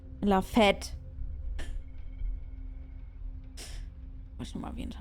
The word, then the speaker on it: fête: Wisst ihr auch, was Fete, also wie Fete ausgesprochen wird im Französischen, ist nicht so nett. La Fête.